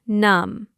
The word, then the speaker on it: numb: But first, I am going to make you numb." Ah, numb. N u m b. The b is silent.